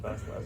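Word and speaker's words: Vasilevskiy: Okay, you pronounce Vasilevsky.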